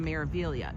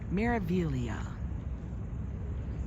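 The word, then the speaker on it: Meraviglia: We are going on the Maravilia. The MSC Maravilia. It has a G in there like Miralia, but you don't pronounce the G. The Maravilia.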